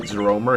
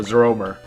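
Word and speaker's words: Zeorymer: well, not Great Zeromer, Zeromer. Although I think his name is actually pronounced Zerimer, but it doesn't matter.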